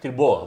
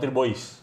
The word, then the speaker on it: Thibaut: Tirbo, bukan Tirbois. Thibaut bacanya. Thibaut.